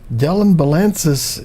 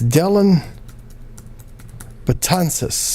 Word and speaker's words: Dellin Betances: ten nine the final del imbalances is the winner like actually that's not black i mispronounced that it's Dellin Betances sarbat ansys I'm not sure